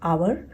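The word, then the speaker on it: hour: जैसे कि एन आवर। आवर में एच जो है वो साइलेंट होता है और उसका जो साउंड आता है अ, तो उसके सामने हम एन का यूज़ करते हैं।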